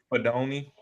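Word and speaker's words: Fidone: Fiadone? How do you say that, Terry? Fadoni.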